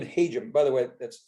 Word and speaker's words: Hajim: Hajim's much nicer, it's a great sounding, but it's unfortunately like yelling for Jim, Hajim.